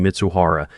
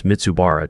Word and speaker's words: Mitsuhara: Brendan Walsh opened the signing meeting by mispronouncing Mitsuhara as Mitsubara twice, and then, attempting to